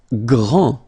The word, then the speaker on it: grand: Grand, final day not pronounced, okay, gr, gr, gr, and then the nasal en, grand, okay, and it means big or tall.